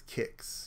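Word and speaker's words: Qix: I pronounced it Quicks, but I think it's Kicks. Yeah, Kick, because there's no U, so I'd have to say phonetically it's Kicks.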